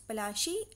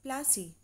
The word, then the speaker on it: Palashi: British pronounce Palashi as Plassey. So this battle was known as Battle of Plassey.